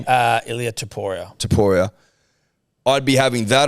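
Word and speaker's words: Ilya Topuria: I'd have the UFC 298 Volkanovski versus, how do you pronounce his name, Tom? Ilya Taporia.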